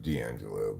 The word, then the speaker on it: D'Angelo: D apostrophe but uh pronounced dangelo but spelled de apostrophe I was just thinking